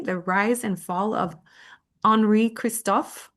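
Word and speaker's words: Henri Christophe: So, the book is called The First and Last King of Haiti, the Rise and Fall of Enri Kristoff, I believe is how we would pronounce it in French, but my French is terrible.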